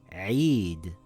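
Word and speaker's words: عيد: When you see the yaa like this it makes an ei sound in the word weird so this word will read eid.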